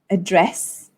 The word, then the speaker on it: address: have the word address address and advertisement so address contains two syllables address and then dress is the one that you stress and this word advertisement